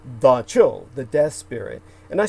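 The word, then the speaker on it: dab tsog: d-a-b space t-s-o-g and your average person looks at that and they'll say dab zog and that's not how the cambodian or kampuchean people pronounce it so they would say da chil the death spirit and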